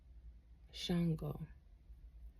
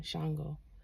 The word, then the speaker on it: Shango: And guys, stop pronouncing his name as Shango. Okay? Stop doing that. It's Shango. Please. For lack of better words, in the human form, y'all pissing him off by calling him Shango.